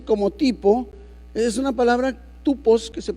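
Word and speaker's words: τύπος: Si nosotros vemos la palabra en el griego que se traduce como tipo, es una palabra tupos, que se pronuncia así, y significa ejemplo, figura, forma, lugar, modelo o señal.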